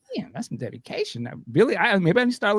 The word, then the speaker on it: Billie Eilish: I thought you would just you order online, but apparently it was Billie Eilish, if I'm saying it right.